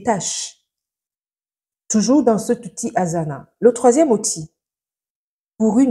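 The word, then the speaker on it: Asana: a aussi j dans l'ppellation française he l'outil Azana ça s'écrit comme vous l'entendez a S a n a l'outil Azana permetmet d'abord de créer les projets c'estàdire votre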